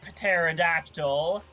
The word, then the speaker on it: pterodactyl: Another one says, "I want to be a pterodactyl." I can do that. And he pronounces the T.